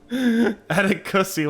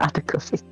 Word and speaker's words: Atticus: Atticusy, welcome on in. Atticusy. It's Atticus. It's just Atticus. It's not Atticusy.